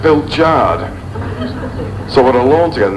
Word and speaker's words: Pilchard: watson with a hyphen it's pronounced bill jard so what i learned